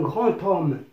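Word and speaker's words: grand homme: كذلك un grand tome au niveau de l'écrit c'est un D ولكن au niveau du français parlé عند المنطوق نسمع تي، نسمعه تي. إذا un grand tome.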